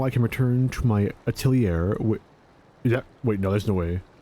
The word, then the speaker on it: atelier: Now I can return to my atelier. Wait, no, there's no way. Is that right? Aren't there more letters in atelier? Atelier? Atelier. Holy shit, I think I'm right. Atelier.